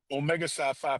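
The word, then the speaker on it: Omega Psi Phi: Should How How do you pronounce it so I don't say anything disrespectful? Omega Sci-Fi Fraternity Incorporated, sir.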